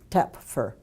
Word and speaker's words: Toepfer: Tep- Toepfer. How do you pronounce it? Toepfer.